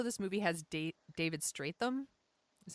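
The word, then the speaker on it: Strathairn: of this also this movie has date David straight them is how you pronounce his name strap yes strap yes and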